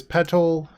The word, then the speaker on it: petal: Sacrifice Lotus Petal and Rite of Flame. I'm trying to pronounce the T's in that card to see if the YouTube auto caption will do P-E-T-A-L instead of P-E-D-A-L.